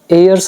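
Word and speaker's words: heirs: इसमें एच हमारा साइलेंट होता है। एयर्स आप बोल सकते हो इसको और लीगल मतलब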